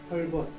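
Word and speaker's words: Hulbert: 제일 앞에 자기 이름을 우리는 헐버트라고 그러죠. 헐벗. 네. 헐벗이라고 그랬는데 이게 가장 정확한 표현입니다.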